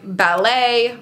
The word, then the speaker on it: ballet: other languages Etc so things like ballet Gourmet we are not going to pronounce the T there she's a ballet dancer they